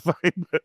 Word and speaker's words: Phibr: Fiber. There's no logic to it, but then that's how it started. पर बहुत मुश्किल है उसको pronounce करना और spell करना. Because fiber is what I would say.